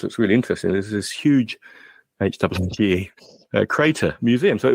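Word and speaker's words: Hooge: We visited this museum at a place called Huge Crater. Now that's spelled H-O-O-G-E, not huge as in big.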